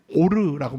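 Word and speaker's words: עור: 얘기를 하나 해 드릴게요이 가죽을 히브리어 구약의 언어로 말하면 오르라고 말합니다 오르 히브리어는 오른쪽부터 읽어요 왼쪽부터 읽 우린 보통 왼쪽부터 그리로 읽잖아요 오른쪽부터 거꾸로 읽습니다 오르 그리고 또 구약의 빛이라는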